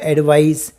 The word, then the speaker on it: advice: और CE से स का साउंड होगा, एडवाइस।